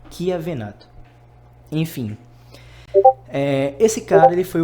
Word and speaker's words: Chiavenato: Se escreve com CH, mas se pronuncia como se fosse um Q, tipo Chiavenato.